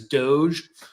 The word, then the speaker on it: DOGE: So I think personally for me, that's Doge, like Dogecoin.